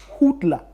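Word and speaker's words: Häuptle: So apparently the coach in surname be Hootler.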